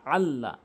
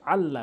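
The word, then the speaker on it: الله: এই তিন কালাওয়ালা তাসদিদটি যার যেই হরফের উপর থাকবে সেই হরফকে অবশ্যই আপনি দুইবার উচ্চারণ করবেন। যেমন এখানে আইন লাম জবর আল লাম জবর লা আল্লাহ আল্লাহ এটা তাশদের কারণে দুইবার উচ্চারণ হচ্ছে আল্লাহ কোন টান হবে না আল্লাহ তাহলে আমরা চারটি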